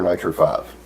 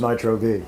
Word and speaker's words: Nitro V: Is it Nitro V or Nitro 5? The pronunciation. I asked you that and you told me it was Nitro V. That's what we'll go with.